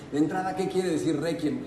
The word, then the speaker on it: Requiem: Pero de pronto decir Requiem, misa de Requiem, de entrada, ¿qué quiere decir Requiem? Requiem o Requiem, si lo queremos pronunciar en latín, querría decir descanso.